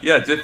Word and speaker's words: GIF: But yeah, it reminds me of the peanut butter, so I just think it's GIF like the peanut butter, but it's spelled differently.